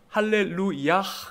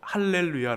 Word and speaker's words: 할렐루야: 그리고 야후는 여호와를 가르킵니다 정확히 할레루야 큽니다 그런데 이것을 압축해서 할렐루야 로 발음하고 있는 것입니다 1를 위하는 그래서 아